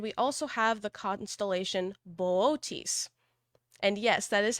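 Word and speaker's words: Boötes: And we also have the constellation Boötis. And yes, that is how it's pronounced.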